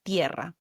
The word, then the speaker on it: tierra: You sound out each letter, like the word, for example, earth, in Spanish, tierra, tierra, Tierra, and you pronounce each vowel. See how each vowel forms its own syllable, its own separate sound?